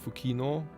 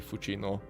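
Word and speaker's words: Fucino: Lake of fuino and I really can't imagine this Lake being pronounced fukino it's almost definitely fuino hence the tongue being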